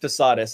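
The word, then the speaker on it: Posadas: The first 2, Posadis or Posadis, it's pronounced Posadis, I'm 99% sure.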